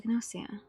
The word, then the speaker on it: Gnosia: Who is the Gnosia? That's how they say it in the anime, so they do pronounce the G.